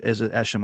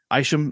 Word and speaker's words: Isham: Mark, I think I'm saying it right, Mark Isham, or is it Esham? I'm not sure, but his score. Yeah. Isham, yeah.